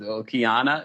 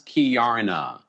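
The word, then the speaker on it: Keiarna: Kiana is Kiarna.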